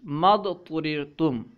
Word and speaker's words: ما اضطررتم: Bracket میں رسم الخط والی صورت لکھی ہے، یعنی رسم الخط میں الف اور حمزہ دونوں لکھے جائیں گے لیکن ان کا تلفظ نہیں ہوگا، ٹھیک ہے۔ ما اضطررتم ہے، اس میں حمزہ اور الف یہ دونوں لکھے تو جائیں گے لیکن پڑھے نہیں جائیں گے، ٹھیک ہے۔ تو آئیے